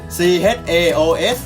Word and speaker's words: chaos: r d แต่เมื่อพูดออกไปแล้วเราจะไม่ออกเสียงตัว W ด้วยเพราะถ้าออกเสียงตัวเดี๋ยวอยู่ไฟฝรั่งอาจจะงงได้ถ้าพี่ 2 chaos C H A O S อ่านว่า chaos ไม่ใช่ Short เนี่ยก็มาเขียน chaos ที่แปลว่าความสนอยู่แล้วนั้นถ้าเรายิ่งไปพูดว่าเฉพาะ t** จะยิ่งทำให้สับสนเข้าไปกันใหญ่นะเลพเพิร์ด